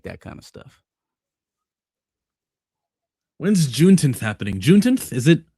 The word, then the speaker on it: Juneteenth: When's Juneteenth happening? Juneteenth? Is it? Oh, it's pronounced. Okay. Juneteenth. Oh, I was about to.